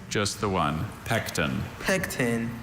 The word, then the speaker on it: pecten: Pecten. And it still has that schwa.